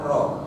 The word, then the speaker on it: rho: Bukan P itu rho. Bacanya adalah rho.